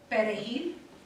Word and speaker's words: perejil: They used that word to test us, because those who could not pronounce the R using the tips of their tongues must not be born of the Dominican Republic.